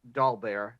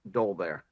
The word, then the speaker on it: Dolbear: the school name and it is in fact dolbear not dolbear all right there you go I'm public record not putting the wrong emphasis not dolbear some people